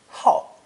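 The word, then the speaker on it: 好: combination woman and child when pronounced fourth tone ho is used as a verb to show that one is very keen on or quite fond of something for example how to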